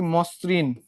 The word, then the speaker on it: মসৃণ: যেমন দেখো বলা হচ্ছে কি মসৃণ, তাই না? মসৃণ। এখানে ছিল একটা কি ম, মর সঙ্গে যুক্ত অবস্থায় ছিল একটা অ, অর পরে যুক্ত হয়েছে কি? রিকার। তাহলে এই অর উচ্চারণ কিসের মতো হবে? ওর মতো হবে। অর্থাৎ তখন মটা কি হয়ে যাবে? ময় ওকার হয়ে যাবে।